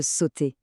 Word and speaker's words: sauter: Et le dernier, c'est le verbe sauter. S au ut r. Notez bien que le e r à la fin des verbes comme celui-ci est mué. On dit simplement sauter.